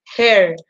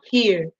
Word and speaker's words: her: Entonces, ojo, esto se dice her, nunca here. Se pronuncia como con e, her.